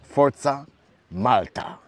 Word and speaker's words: forza Malta: have one two And basically there are four syllables and it's forza malta.